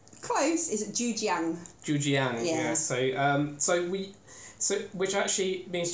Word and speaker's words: Zhujiang: And it is Zhujiang Beer. Is that pronounced correctly? Close. Is it Zhujiang? Zhujiang, yeah.